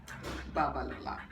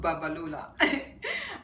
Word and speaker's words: Babalola: Babalola, not Babalola.